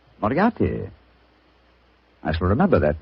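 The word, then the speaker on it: Moriarty: Miati. Moriati.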